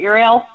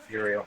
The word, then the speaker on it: Uriel: Uriel. Uriel.